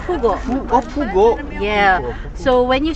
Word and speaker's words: Pugo: 야 포고 아고 포고 포고 이거 아 아 아 렉 렉이야 렉이야 It's pugo.